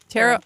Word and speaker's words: tarot: So now I you just say tarot. You know, like carrot.